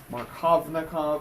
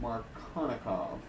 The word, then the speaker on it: Markovnikov: The V is silent. Markovnikov, but you actually say it Markovnikov.